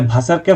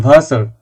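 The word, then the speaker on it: Wasser: বের হয়ে আসবে কিন্তু এখন এই প্রেসারটা নিয়ে যে ভাসারকে ভাসা বলতে হবে ফাটারকে ফাটা বলতে হবে এই প্রেসার নেয়ার দরকার আপনি আর এখন বা এয়ারটা সম্পূর্ণভাবে উচ্চারণ করেন আপনি পলিশিং দিবেন যখন আপনি বিটু সিও লেভেলে যাবেন তখন তখন পলিশিং দিবেন। এখন শিখতে থাকুন। ভাসার সম্পূর্ণটাই বলুন ভাসার। ভাষা পরে বলবেন। আপাতত ভাসার।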